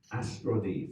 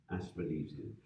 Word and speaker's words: Austronesian: about what's called the Austronese. Yes, it's Austronese. Yes. Austronesian. Austronesian, that's what I want to say.